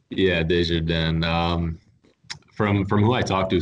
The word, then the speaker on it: Desjardins: Desjardins? Yeah, Desjardins.